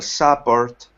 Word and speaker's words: support: product, life expectancy, social support, freedom social support. Social support. Good. Second syllable is the stress.